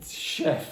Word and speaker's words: chef: have encouraged him because this word is French and we actually don't pronounce it with a CH we pronounce it with a sh so you could Goa oh Chef okay so again only